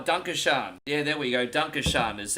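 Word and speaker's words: Danke schön: Dunkashan is how you say thank you in German. Dunkashan.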